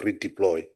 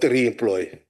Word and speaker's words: redeploy: No, just take him back to school so that he will have a proper pronunciation of redeploy, not remploy.